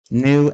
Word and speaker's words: knew: how to pronounce new and new. They're pronounced the same, at least to me. New and new. It's just that for the first word, the K is silent.